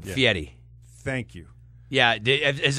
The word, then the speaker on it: Fieri: go with guy but the FI Yeti thing does confuse people once in a while in Italian e r i Edie f f Fetti yes yeah so I have to and you'll see it phonetically spelled out uh a lot of times and it'll be fe- d d i e like some guy named Eddie's got to pay a fee I want to tell